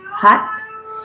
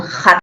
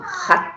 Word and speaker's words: hat: Es esa H que se utiliza en el inglés cuando pronuncian la palabra sombrero en inglés, hat. No es un hat con J, no, hat, sino un hat con el aire aspirado. Nosotros pronunciamos la J con un aire que sale de dentro, ¿no? En cambio, esta del sombrero es hat.